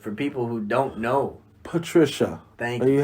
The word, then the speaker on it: Patricia: You gotta pronounce it for people who don't know. Patricia. Thank you. you. Are you happy? I'm joyful. If I could pronounce Luka Doncic, I should be fine with Patricia.